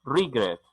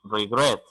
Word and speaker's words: regret: arrepentirse regret escuchen regrette no digo regrets digo regrese el énfasis de sonido están en la segunda se la bajó ruido ruido no es libre es rigor la segunda es decir la sílaba final es la que tiene esa énfasis de sonidos ya por allí se